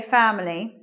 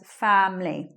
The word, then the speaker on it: family: what volition that time you will hear people say family but sometimes you'll hear this way family just with two syllables elision of schwa after M means that we're not saying that either so it just becomes family next word how many